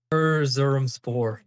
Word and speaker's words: Erzurumspor: course, do you want to give that a pronunciation for us? Erzurumspor of the Turkish Super League.